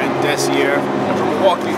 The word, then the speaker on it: DESIAR: So I misspelled it and I pronounced it DESIAR. See here? DESIAR. A lot of people think it's desire, but it's DESIAR.